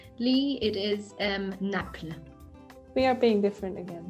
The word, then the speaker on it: Naples: is naples italy and in french it is spelled exactly the same just pronounced slightly different lee it is um napla we are being different